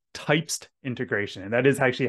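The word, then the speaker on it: Typst: another feature coming to quto is something called types integration and that is actually how you pronounce it I learned that at our conference this year it's types types is a it's a very new open-source markup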